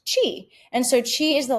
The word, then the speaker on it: qi: So QI is pronounced chi.